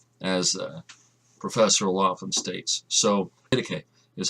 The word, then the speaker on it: Didache: So, Didache is how it's pronounced.